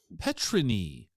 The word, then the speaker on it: Petryni: say it right the first time is it petrini it's actually petrin petrin petrin I heard it pronounced a couple of different ways yeah what